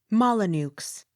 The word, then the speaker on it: Molyneux: n e u x molyneux the x sounded with slight accent on last syllable m o n c